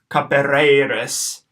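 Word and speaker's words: capereris: Capereiris. Short A, short E, long E, short I.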